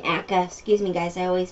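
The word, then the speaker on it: Acre: Yeah, it's not Arca there. That's a different, area there. That's not Arca there. Arca's this way. I mean, Akka.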